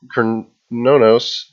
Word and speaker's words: Cernunnos: have a new God Kern no no I believe that's how they were pronouncing it in the patch notes video lee horn god he